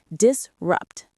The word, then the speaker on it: disrupt: Disrupt. Stress on the second syllable.